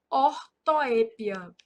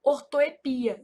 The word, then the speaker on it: ortoépia: Então aqui, ó, são erros de ortoépia. Essa palavra ortoepia, ela é um caso de variante, então ela também pode ser pronunciada assim, ó, ortoepia, sem acento.